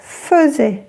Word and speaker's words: faisait: Ngoài ra, hãy cẩn thận với "faisait". Nó được viết với "ai" mặc dù phát âm giống như "fezè".